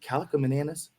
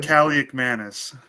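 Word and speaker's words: Kaliakmanis: Is it Calico Mananis? It's Cali Manis.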